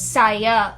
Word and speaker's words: Saaya: they spelled scio it's like the way they pronounce it is saya because there's two at the end right they